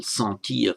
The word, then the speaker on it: sentir: French word to feel, sentir, S-E-N-T-I-R. The N isn't pronounced as a separate consonant, but it has the effect of nasalizing the vowel.